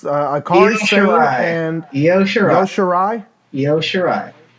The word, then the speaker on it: Io Shirai: Io Shirai. Yo Shirai, must be like a silent I or something like that, or it's Io.